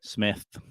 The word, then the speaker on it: Smythe: Smythe Sean. or Smith? What that? Smith. It's a weird spelling, but it's Smith.